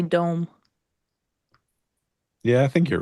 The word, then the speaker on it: DOM: Is it pronounced Dom or Dome? It's pronounced Dom, because I know better.